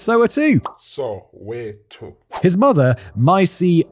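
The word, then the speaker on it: Soweto: so 2 not so to oh I've always pronounced it Soo but apparently it's so to so to his mother myy maaso who had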